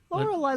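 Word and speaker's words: Lorelai: Lauraai. Laurelai.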